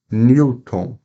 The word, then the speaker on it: Newton: aqui os exemplos ó Newton Newton nós temos uma vogal agora Darwin agora já